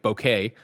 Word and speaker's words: bokeh: here nanobiologist says uh bokeh is pronounced like bouquet uh bouquet bouquet like a bouquet of flowers bouquet okay greg okay